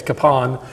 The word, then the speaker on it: Kapaun: and it's funny because when you go up to Pilsen um you will have about half the people that you meet from Pilsen say it's kapon the other half say it I've never heard of Capone in my life it's always been caping to me so so the the